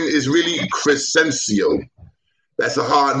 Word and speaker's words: Crescencio: My first name is really Crescencio. That's a hard name, Crescencio. That's my real name. That you spell that C-R-E-S-C-E.